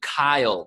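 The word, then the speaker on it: Cyle: There is a gentleman named Kyle, spelled with a C, C-Y-L-E.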